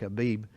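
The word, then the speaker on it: Aviv: You are, in fact, a lot of places spelled A-V-I-V, but it's pronounced like Abib.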